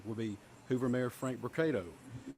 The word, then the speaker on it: Brocato: the podium today will be Hoover mayor Frank brocato spelled b-r-o-c-a-t-o and Hoover Police Chief Nick durzis spelled d-e-r-z-i-s you may also hear from Lieutenant